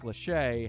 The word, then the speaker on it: Lachey: this year singer and television personality uh nick lachey has signed on as a spokesperson he's still apparently so it's spelled l-a-c-h-e-y nick lachey right has signed on